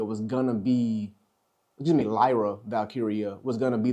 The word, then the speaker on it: Lyra: trying to build up Lura uh Lyra I keep on getting her name wrong Lyra uh since NXT since